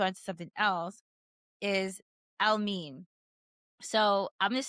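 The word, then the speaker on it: Elmiene: E L M I E N E, which it looks like Elme or I don't know how you It's so mispronounced. There's a whole video about all the mispronunciations of his name, but it's Elmine and he is a singer, British singer, born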